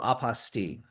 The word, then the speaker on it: apostille: My favorite is still aposti because it rhymes with unrestricted fees and that's what we named our podcast.